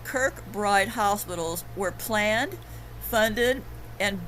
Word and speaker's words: Kirkbride: So as you can see, these Kirkbridge mental institutions were conveniently built right before the mass immigration.